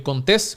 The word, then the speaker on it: Contés: Mi nombre es Miguel Contés, con acento en la E, y nos vemos en la próxima.